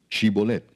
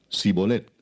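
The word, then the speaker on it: Shibboleth: Si él respondía, "No, entonces le decían, "Ahora pues di shibolet." Y él decía, "Sibolet, porque no podía pronunciarlo correctamente."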